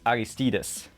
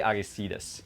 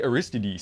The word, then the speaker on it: Aristides: I know it's Aristides. They say Aristides, but all the Americans say Aristides. So now I say Aristides.